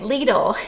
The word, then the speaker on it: Lidl: I said, "Do you say it lidle or do you say it lidle?" And the Googler told me it was lidle. So hopefully the Googler is correct in this instance, but basically Lidle and Aldi from what